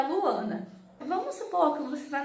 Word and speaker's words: Luana: Então percebe que quando eu estou chamando Luana, a sílaba mais forte é o A, Ana.